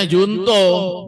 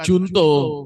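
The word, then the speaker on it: juncto: Bacanya Yunto, bukan Junto, bukan pakai Y. Pakai Y itu nggak ada bahasa Latin. Y itu, Y itu tidak ada huruf Y itu dalam bahasa Latin.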